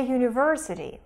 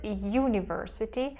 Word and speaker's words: university: Sounds M are consonant the last word university though it has a vowel letter U the sound is consonant it's y it's not a like in the word utterance for instance they're the same letter U produces a vowel sound in this word university is a consonant sound you so we say a